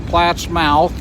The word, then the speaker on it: Plattsmouth: A little town appropriately named Plattsmouth, or Platt's Mouth. It's spelled Platt's Mouth and defines what it is actually, but it's called Plattsmouth, Nebraska. So we're headed for Lincoln today.